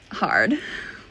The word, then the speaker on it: hard: Hard. Hard. Don't pronounce the R so much.